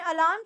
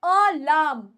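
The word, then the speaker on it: alarm: है मेरे घर में अलार्म 6 बजे बजता है अब याद रखना वर्ड को अलार्म नहीं बोलना वर्ड है अलाम अलाम अलाम सही से प्रोनाउंस करेंगे इसको और ठीक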